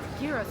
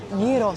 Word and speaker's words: gyros: The right pronunciation, actually, I think it's gyros, something like that.